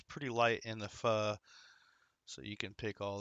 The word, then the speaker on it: pho: Uh, she likes going there for the fu. That's spelled pho. For those aren't um haven't had it or didn't know the pronunciation, it is fu, not fo.